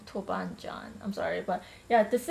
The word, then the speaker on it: toban djan: sauce chili bean sauce I know that you pronounce it tubang in Korean but I don't know really correct me if I'm saying this wrong it's it's called toban John toban John I'm sorry but yeah